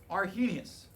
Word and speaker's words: Arrhenius: we're going to write argenius all right a r h is silent but i have to write it anyway i feel like